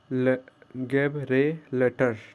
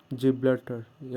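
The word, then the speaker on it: Gibraltar: गैबलिटर, ठीक है, गैब गैब रे लेटर, ठीक है, गैब्रेलेटर या जिब्लटर, ठीक है, प्रोनाउंसिएशन होगा जिब्लटर और मलक्का।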